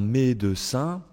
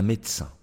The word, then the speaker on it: médecin: informel toujours en général ils ne vont pas prononcer le E s'il se trouve entre deux consonnes au milieu d'un mot d'accord regardez un médecin un médecin ici on a deux